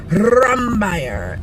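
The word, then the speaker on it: Rombauer: title right now and then for preakness rumbaire rumbaire that's how they say it and for belmont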